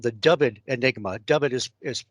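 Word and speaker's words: Dyfed: you have or haven't encountered uh called the dubbed enigma dub it is spelled d-y-f-e-d by ted holliday and randell pew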